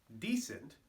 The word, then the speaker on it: decent: 7, decent. Note the accent on the first syllable like I mentioned before.